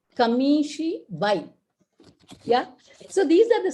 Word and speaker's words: kamishibai: kamishibai keeps moving and it has to be pronounced as kamishi bhai yeah so these are